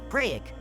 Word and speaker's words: craic: Craic, pronounced exactly like crack, is one of the most beloved words in Irish life.